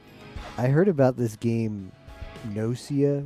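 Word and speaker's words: Gnosia: heard about this game noia with a g a silent g at the start that's supposedly come into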